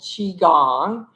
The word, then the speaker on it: Qigong: So, for those of you who don't know um what Qigong is or how to say it, it's called Qigong.